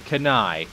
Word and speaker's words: Kanae: Okay, it is Kanae. Okay, now I'm saying it correctly. Kanae.